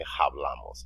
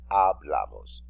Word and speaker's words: hablamos: So you will say hablamos. Remember, the letter H is silent. You don't say hablamos, you say hablamos.